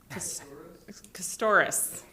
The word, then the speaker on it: Castoris: Steven, your last name. Castoris. You read that and think you're gonna. It's just like it's spelled. Stephen Castoris.